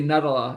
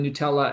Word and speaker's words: Nutella: and he'd always say Nuttala instead of Nutella and I this